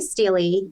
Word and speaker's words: stele: And these stories, she has there's only 3, I always pronounce it Stele. Is it Steely? Steely? I see Steely, yeah.